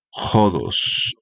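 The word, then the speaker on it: ὁδός: Y Jesús usa este elemento, la palabra camino, que viene del en el griego, la palabra camino es jodos o jos, s. Jodos, listo. Jodos es la la pronunciación de la palabra jodos.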